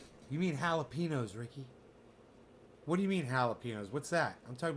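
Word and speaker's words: jalapeño: You mean jalapenos, Ricky? What do you mean jalapenos? What's that? I'm talking about jalapenos. Jalapeno. What? What are you saying, Bubbles? What are you saying? Jalapeno. The J is silent.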